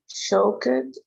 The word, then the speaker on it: shocked: glad, surprised, happy, anxious, shocked, afraid. All right. It is just shocked. We don't pronounce this vowel.